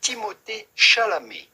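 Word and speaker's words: Timothée Chalamet: about pronouncing his name well there would be two different ways since he's both American and French in French we would pronounce his name timot shal shal the at theend his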